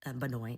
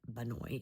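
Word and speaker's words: bà nội: would ask her, like, Banoi is how you say grandma. And Vietnamese is very specific language. So, like, Banoi is grandma on your dad's side versus Banguai, which is grandma on your mom's side.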